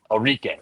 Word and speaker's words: Orique: Orique.